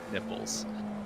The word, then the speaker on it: Nipples: Nick, I think it's actually probably pronounced Knipples, but he did say in the form that was filled out on registration for this race that he does prefer for us to pronounce it Nipples.